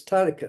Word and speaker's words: Tarika: Well, it's not Tarika, it's Tarika. Well, it's stressed on the first syllable, like finish, right?